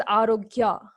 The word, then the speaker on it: Arokya: Arokya. It's actually Arokya, but they pronounce it as Arogya.